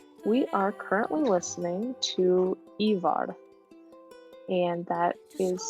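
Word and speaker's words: Eivør: you might be, we are currently listening to Ivar, and that is spelled E-I-V-O with like an Icelandic slash through the O and then R.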